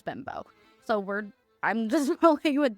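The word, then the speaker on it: Bembo: I've looked it up and how to pronounce it. His last name is Bimbo.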